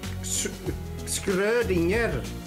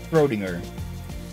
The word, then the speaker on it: Schrödinger: It's pronounced Schrödinger. Most people I hear just call it Schrödinger.